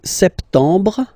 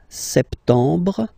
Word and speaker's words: septembre: So, septembre, septembre, septembre. Remember this E-M en septembre. Br, br. You don't insist on the final E. Septembre, septembre.